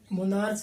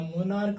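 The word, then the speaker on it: monarch: जैसे देखो, मोनार्क, अंत में सी एच है लेकिन ये मोनार्च नहीं बोला जाता, मोनार्क बोला जाता है।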